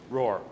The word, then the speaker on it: Roohr: clear how do you say your last name roar roar okay Mr Roar thank you for being